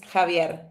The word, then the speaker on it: Javier: Oh, because in Spanish is Javier.